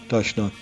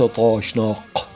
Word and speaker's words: تاشناق: مكان عدا هذا الاسم، لأنه في الأبجدية الأرمنية آخر حرف من اسم هذا الحزب ينطق كما تنطق الجيم المصرية. وقد تم الاتفاق على أن تكتب بالعربية كاف وليس قاف، وأنا مصر على تسجيل اعتراضي، فالتاشناق تكتب هكذا تاشناق وليس طاشناق.